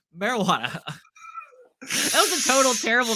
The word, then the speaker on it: marijuana: It's a word that's commonly mispronounced because there is that sound versus the wah sound. Like, the wah sound is not in there.